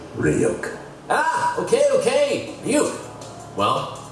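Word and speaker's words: Ryuk: those of the death notes demon react it's pronounced ryok ah okay okay you well we have as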